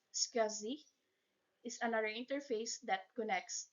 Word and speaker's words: SCSI: drive as well s SSI pronounced scui is another interface that